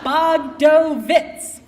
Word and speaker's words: Bogdovitz: More than a decade later, there are hundreds of children and teenagers around the country who will defend my name against improper pronunciations. Bogdovitz.